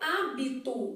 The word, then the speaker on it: hábito: o quê fonemas beleza na palavra hábito o que que tá acontecendo o h não é pronunciado então a gente também já